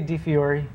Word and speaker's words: DiFiore: I would say DiFiore. That's good then. We're right on the same track. Right. Those vowels are squirrely in Italian, though.